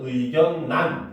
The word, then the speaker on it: 의견란: 자, 의견란 같은 경우는 의견난 이렇게 발음을 하죠.